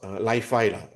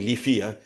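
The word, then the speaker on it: Li-Fi: uh uh this uh I think it's pronounced LiFi right cannot be leafy it's lifi so light falty so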